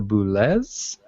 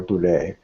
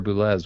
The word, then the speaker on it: Boulez: Oh, I was just going to say, I think this is one of those cases where it's not the French pronunciation that you expect. I think it actually is with a Z sound rather than Pierre Boulez.